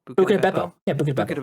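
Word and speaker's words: Buca di Beppo: Buca de Beppo.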